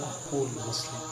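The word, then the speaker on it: أخو المسلم: 36वीं हदीस मुबारक है, अल मुस्लिमु अखुल मुस्लिम, अल मुस्लिमु अखुल मुस्लिम, मुस्लिम। जहाँ जो वाव है वो साइलेंट है।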